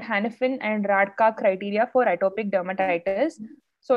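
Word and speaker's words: Rajka: So this criteria is known as Hanifin and Radka criteria. The J is silent. It's called Hanifin and Radka criteria for atopic dermatitis.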